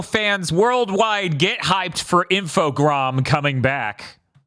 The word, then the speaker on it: Infogrames: Everyone, our Armadillo fans worldwide, get hyped for Infogram coming back. Good luck on saying it correctly, though, because it wasn't until an E3 at some point where someone said Infogram that I went, excuse me?